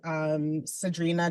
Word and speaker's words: Sagdrina: These are some of my lovely collaborators, Sadrina Jalal and Masood Olufani. Sadrina really, she is somebody to Google, and her name is Sagdrina. So her G is silent.